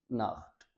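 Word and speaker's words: Nacht: अगर ऊ, ओ या फिर आ जाएं तो हे से पढ़ना है, औख, नोख, बुख, नाख्त।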